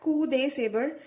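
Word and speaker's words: coup de sabre: included painless cleft saber we pronounce it as coup de saber right which is also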